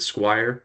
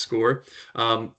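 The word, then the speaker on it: Scoir: They might pronounce it squire, but it definitely is pronounced score.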